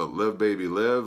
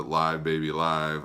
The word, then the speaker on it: Live Baby Live: live album, and I don't know how you pronounce it, Live Baby Live, I believe is the proper pronunciation. However, since it is a live album, you could also pronounce it Live Baby Live, I suppose.